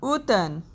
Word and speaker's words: automne: Number third is automne, M is silent here, that is autumn.